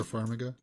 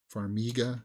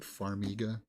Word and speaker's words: Farmiga: more from her ver faraga she's also great Farmiga sorry that's how they pronounce it Farmiga I'd watch Matthew mccon